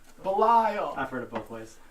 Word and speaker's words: Belial: point Belial 17:25 Ohio he said it right Belial I've heard of a place no it's very